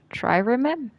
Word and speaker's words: trireme: Trireme? Hold on. Oh, great and powerful internet. How do I pronounce that?